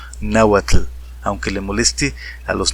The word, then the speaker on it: náhuatl: tengo esa teoría de que originalmente el náhuatl anunciaba así náhuat él debe ser porque incluso bueno la estructura del idioma demuestra que en un principio debió haber sido así y no como en la actualidad que dicen náhuat no sino que realmente debió haber sido la uat y así tal como lo estoy diciendo nagua así de fuerte y así de sonoro náhuat él aunque le